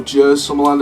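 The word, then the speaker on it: Djurs Sommerland: Sierra Force Zero, like Jungle Rally at the Jers Summerland, or Jers Summerland as it's pronounced, over in Europe.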